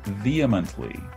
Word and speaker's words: vehemently: the next word is vehemently now i'm told that i put a little tiny h sound in there after the v vehemently that's a big h sound and the dictionary shows no h sound so it should be